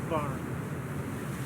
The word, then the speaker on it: Barham: it's the HMS Barn. It is pronounced HMS Barn, but they're Barham.